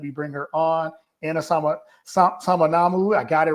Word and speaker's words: Samanamu: Anna Samanamu.